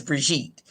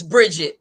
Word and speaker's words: Brigitte: My pronunciation really is Brigitte. But if my mother is watching this, because I on my Facebook page, listen, you should have spelled it different. No, anyways, so she says it's Bridget, but it's spelled Brigitte.